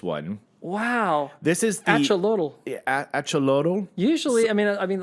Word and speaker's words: axolotl: This is the axolotl. Axolotl. Usually, I mean, like I can in Latin America, in Aztec society, the X is a ch. Yeah. Right. So it's AX. So I would say axolotl because the TL is also.